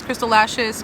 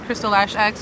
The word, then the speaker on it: Crystal Lash X: It's kind of pronounced both ways. Crystal Lashes, Crystal Lash X. You know how the X can just be like S.